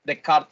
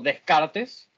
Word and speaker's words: Descartes: de kart filósofo francés de kart por eso se pronuncia de kart y no descartes pero nuestros mismos start